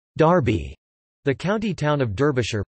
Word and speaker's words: Derby: after Chester England Darby derived from Derby pronounced Darby the county town of